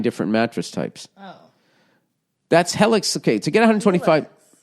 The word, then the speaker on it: Helix: Yeah, does it rhyme with Felix? I don't think it does. I think it's Helix.